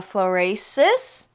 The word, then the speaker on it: Florasis: it so this brand is I believe you pronounce it a florasis f l o r a s i s